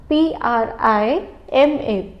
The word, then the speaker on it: prima: P-R-I-M-A. It's prima. Please note the pronunciation.